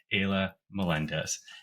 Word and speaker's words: Ayla Melendez: So, if you could please help me give a big warm welcome to my special guest, Aya Melendez. Is that correct, Aya? Am I pronouncing your name right?